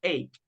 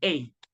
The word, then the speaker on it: ache: This part, everybody, the pronunciation is ache.